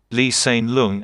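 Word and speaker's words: Lee Hsien Loong: he could he's saying where the h in the second name is more silent lee sane lung and that's the way to pronounce the name of the prime minister of singapore who used some examples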